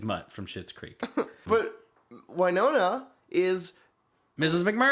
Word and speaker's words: Wynonna: And that is how they pronounce it, Wynonna, because...